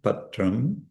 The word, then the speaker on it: patram: So patrum is the unaspirated patrum. uh pushbum also and then palm uh is trans transliterated phalam toyam.